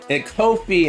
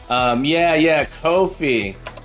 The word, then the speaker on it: Ko-fi: Kofi instead of coffee. Kofi.